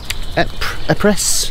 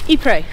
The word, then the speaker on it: Ypres: Epres. Ypres. Ypres. I know it, but I just can't keep saying it. Because it's spelt with a Y to start with.